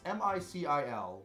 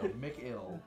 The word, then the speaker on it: Micil: So it's it's pronounced Micil. Well, it's M-I-C-I-L, but it actually. Which I think is really nice is it gives you the pronunciation next to it. So Micil.